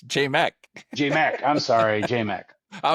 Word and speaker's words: JMach: A lot of people try to pronounce it match, and I'm like, what? But J-Mac.